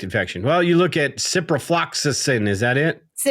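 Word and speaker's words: ciprofloxacin: Well, you look at cyprloxisin. Is that it? Cypro. Yeah. Yeah, you said it right. Cyprolaxisin.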